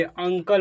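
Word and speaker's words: uncle: दो कॉन्सोनेंट आता है, जब किसी वर्ड में यू के बाद दो कॉन्सोनेंट आता है तो इसी यू को अ प्रोनाउंस कर दिया जाता है। और कुछ एग्जाम्पल को समझेंगे। इसे अंकल पढ़ा जाएगा, अंकल, ठीक।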